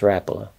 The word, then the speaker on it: Rapala: But I also love the Rapala, which turns out, after all these years, it's supposed to be pronounced Rapala, because the Rapala family pronounces their name Rapala, and they're the ones that get to say.